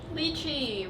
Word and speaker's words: lychee: hell is this lychee lychee rhymes with d cheese oh okay so we